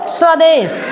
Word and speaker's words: स्वदेश: यहां भी स के बाद व है तो स्वदेश।